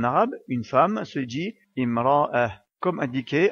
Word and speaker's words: امرأة: La lettre alif placée sous la lettre hamza sert uniquement de support et n'est pas prononcée. Imra'ah.